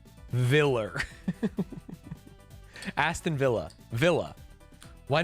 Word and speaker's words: Aston Villa: Back in my day it was Aston Viller.